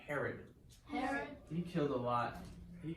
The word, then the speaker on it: Herod: And then there was a time they had, before they came to Jesus, they encountered a king that kind of rhymes with my name, but he was evil, so I don't like to think about it rhyming with my name.